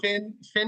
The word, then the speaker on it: fin: So Fin is actually fin. This is how you pronounce it in French, and it means end.